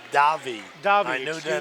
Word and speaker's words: Davey: As we said, Brett Redner of Butler Bloomingdale against Joey Davey of Mendham. I actually it's pronounced Davi.